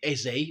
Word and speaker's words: Eze: And and surprise, surprise, somewhat ironically, Eberiche Eze, or is it Eza? I'm hearing a lot of people pronounce it as Eza, but I'm going to go with Eze.